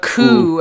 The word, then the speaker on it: The Coup: someone else featuring and they pronounce the coup as the coupe which is really weird because they they go with the coupe in here which is really interesting because boots Riley who's kind of the main like Lyricist and vocalist of of the group um always pronounced it as the coup in like their early work and it was just